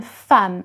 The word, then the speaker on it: femme: Now, a woman, une femme. So it is written with an E, but you pronounce it as if it was an A.